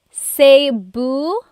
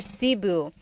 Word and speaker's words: Cebu: So, technically in the Tagalog alphabet, the letter E can be pronounced E or E like the letter I. So, I say Cu. Cebu. And I know some people say sabu, but usually it's either sibu or sebu.